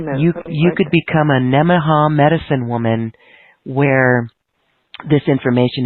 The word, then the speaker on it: Nemenha: Nemen, Nemen, like N-E, men. Yeah, Nemen, right. Ha, H-A. It's all one word.